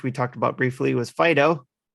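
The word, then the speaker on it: Fidough: one which which we talked about briefly was fido it's a fairy type and again fido is a dog and it's spelled f-i-d-o-u-g-h fido yeah i think i think roger made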